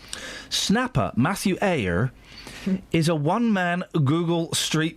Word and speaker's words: Eyre: How do you say that? E-Y-R-E. Eyre. Eyre. Oh, sorry. Like Jane Eyre.